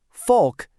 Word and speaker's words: folk: The answer is a silent L.